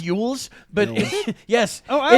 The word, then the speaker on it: Elwes: it's Yules, but Elwes. yes. Oh, I always pronounce it Elwes. Yeah, it's not pronounced at all the way it's spelled.